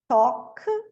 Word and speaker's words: talk: Walk, talk, chalk.